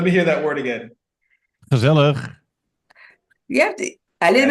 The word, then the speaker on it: gezellig: Gezellig. You have to, a little bit Yes. more emphasis on the last part, Benny. We need to hear it on Gezellig.